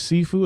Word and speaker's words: Sifu: Is that how you pronounce that name? Sifu. So it is Sifu.